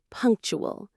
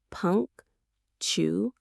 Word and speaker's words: punctual: The word is punctual. Let's get the pronunciation. Two syllables. Punk tool. Again, punk tool. The stress is right at the beginning.